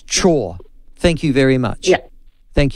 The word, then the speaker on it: Chhour: pronounce the surname uh it's chore like do your chores oh thank you see I was wrong I I said it's either ciao because I just went